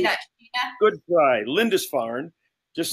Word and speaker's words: Lindisfarne: Lindisfarne. Just Lindisfarne.